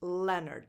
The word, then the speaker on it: Leonard: This name is pronounced Leonard. So le, you don't pronounce the O, basically. Le-nerd. Nerd. Leonard.